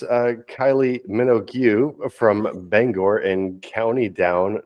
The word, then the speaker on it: Minogue: you lovely boys uh Tom I think that's pronounced Minogue Kylie Minogue Kylie Minogue really yes really and wow the